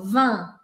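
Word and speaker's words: vingt: eles sozinho 20 sozinho eu não falo te eu falo van vá e acabou do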